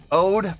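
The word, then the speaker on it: O.de: Ode, okay, so it's pronounced, alright, Ode, pronounced like the English word ode, specializes in synth sounds, while Youngsu plays piano-style keys, so more of a melodic playing.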